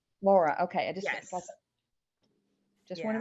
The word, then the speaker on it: Lara: and another place it's l-a-r-a how do you pronounce it laura laura okay i just just want to make sure